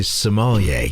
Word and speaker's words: sommelier: So you are a sommelier. Did I say it right? Sommelier? That is correct.